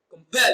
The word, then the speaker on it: compel: Compel is pronounced as compel. Pel receives the stress. It is pronounced louder and longer.